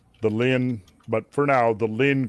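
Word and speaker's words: Linné: lin the lin lin l i n e with the little uh uh mark above it. What? So that adds an extra syllable I believe. Right. the Lynn.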